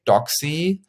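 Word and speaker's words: Doxee: 9.5 million euros to Doxy from Italy. Doxy, I pronounce it Doxy because I thought Italian and because it's written D-O-X-E-E.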